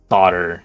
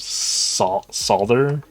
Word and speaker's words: solder: Like saying solder instead of solder feels like. I feel like I'm saying like soda, like Irish soda bread.